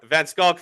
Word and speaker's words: van Schalkwyk: Vancock is the correct pronunciation.